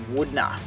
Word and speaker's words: Wudinna: Now Wudinna, if you look at the spelling, looks like Wudina, but I'm told it's pronounced Wudinna.